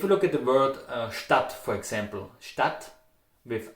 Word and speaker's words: Stadt: If you look at the word Stadt, for example, Stadt with A, in Austria you will pronounce it Stadt with O.